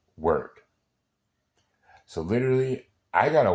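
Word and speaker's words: wyrd: Wy Rd is pronounced in Old English it's pronounced word so literally I got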